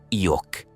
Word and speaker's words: Yo'ok: Un iniciado fue el responsable, al cual llamaremos simplemente Yo'ok, pronunciación Iok.